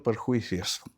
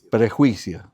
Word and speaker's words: prejuicio: Has tenido perjuicios. La trampa de los perjuicios. ¿Eh? Prejuicio. Sí, lo tengo bien escrito, pero lo he pronunciado mal.